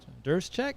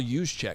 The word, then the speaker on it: Juszczyk: And Kyle Juszczyk, I always struggle with that name. Kyle Juszczyk. Juszczyk? There's all those J's. Oh, Juszczyk. I don't have to Juszczyk.